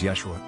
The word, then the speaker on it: Yeshua: His Greek-speaking apostles were probably unable to pronounce his Hebrew name, which was Yehoshua, also pronounced as Yeshua.